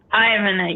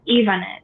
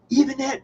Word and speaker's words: Yvonette: That's why I go by because the white way of saying my name is Ivan. You pronounce it with the I because you see the letter I. When you pronounce it the way it was given to me, which was by Hispanic parents, it's Ivanet because the letter I in Spanish is E. It's pronounced E.